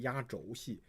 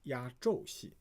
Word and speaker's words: 压轴戏: Now this oftentimes people pronounce it wrong. A lot of people would say 压轴戏. So it actually should read as 压轴戏.